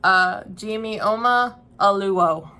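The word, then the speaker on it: Ijeoma Oluo: Okay, so when I looked it up, and I was kind of close, I think, Jimioma Oluo is how they pronounced it on an interview I saw with her.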